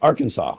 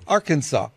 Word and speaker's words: Arkansas: follows the Aransas AR Aransas or Arkansas how do you pronounce that I grew up in Canada help me out here sorry I had to muted Arkansas Arkansas okay Arkansas based company's closure